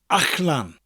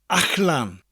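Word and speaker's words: allan: Wales, and that is Ach-lan. Ach-lan. It's spelled A-L-L-A-N. Again, the double L sound sounds a little bit different in the middle of a word. It's a CH sound with a slight L. Ach-lan.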